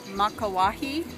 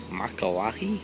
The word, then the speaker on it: Makauwahi: Top of the, how do you pronounce the name of the cave? Makauwahi. Makauwahi?